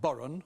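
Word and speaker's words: bodhrán: Andrew, spelt B-H-O-D-R-A-N, but pronounced Boron.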